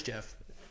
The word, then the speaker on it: Geoff: That's Jeff. Jeff Neal, it's Geoff.